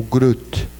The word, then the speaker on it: Groth: Uma periódica, chamava Otto Groth, o Groth, como se fala em alemão.